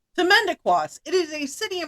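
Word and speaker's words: Timmendequas: How to pronounce. Ready? Yes. Timendequas. Timendequas.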